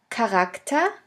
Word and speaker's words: Charakter: In the third case, the CH can also be pronounced like a K if it is at the beginning of a word. Here we have the example of the word Charakter, which means character.